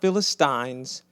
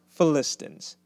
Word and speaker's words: Philistines: Not Philistines, it's pronounced Philistines.